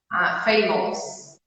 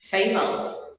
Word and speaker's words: famous: Famous. Exatamente. Só que tá errado. Não é assim que a gente fala. Agora, ao invés de falar ous, fala só us no final. Fala aí pra gente. Famous. Não. Famous. Famous. Isso, né? Basicamente, ao invés de falar ous, tu fala us. Nós temos esse ous. Famous. Não, tu não fala o O, tira o O.